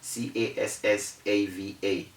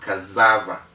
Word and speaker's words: cassava: we have cassava c-a-s-s-a-v-a it's called cassava because the s's are two if we take one s out then we have one s between a and a it will be called kazava but the s's are two so according to the rule it is cassava not cassava okay then we have